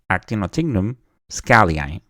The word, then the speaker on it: Actinotignum schaalii: research for this and I found a video where it was pronounced actinotignum scallion and of course that brought the question how do we pronounce it I know in the lab we pronounce it acum Shi but then when I saw this